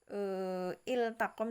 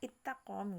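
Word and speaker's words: التقم: Iltaqom di sini tidak dibaca ittaqom gitu, maka tetap dibaca iltaqom, jadi la-nya jelas. Jangan sampai kita terlalu cepat bacanya menjadi ittaqom gitu, salah.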